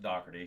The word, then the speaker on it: Doherty: No, my last name's pronounced Doherty, so I've been since I was a child.